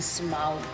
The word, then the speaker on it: Smaug: Secuencia más importante de la película cuando vemos al dragón Smaug. Good pronunciation.